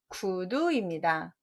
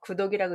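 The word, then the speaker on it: 句讀: 정답은 구두입니다. 다 구독이라고 읽지 않으셨어요? 글귀 구자에 읽을 독자에서 단어 구절 뒤에 부호를 붙이는 걸 구두점이라고 하죠. 이건 읽을 독자에 구두두자라는 뜻이 있어서 그렇습니다.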